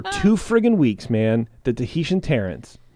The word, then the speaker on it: Tahitian: frigging weeks man the Tahitian Terrence wall pronounces it to Haitian to Haitian to Haitian not Tahitian like we're doing but Stu Haitian I